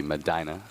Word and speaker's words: Medina: Quick two scores here excuse me that would be Madina pronounce pronouncing it wrong here okay Arabians feeli the